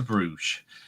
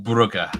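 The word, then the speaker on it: Bruges: Um, and we'll go to Bruge or Buger, however you pronounce this. How do you pronounce this one? Uh, Lewis, it depends which area you come from. Dan Robert would be bugger, but I'm Bruge. Good. Bruge.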